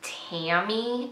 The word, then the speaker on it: Taimi: looking at is called i think it's pronounced tammy it's t-a-i-m-i and like i said